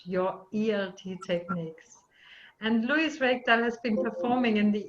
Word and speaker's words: Reikdal: Is that pronounced correctly, Reikdal? Yeah, this is Icelandic. Reikdal.